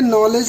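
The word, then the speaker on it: knowledge: जबकि यहाँ पे देखिए नॉलेज लिखा हुआ है, तो नॉलेज हिंदी हमारे देवनागरी लिपि में नॉलेज को नॉलेज ही लिखा गया है, जबकि इंग्लिश में यहाँ पे के को साइलेंट किया गया है, के का उच्चारण नहीं करना है।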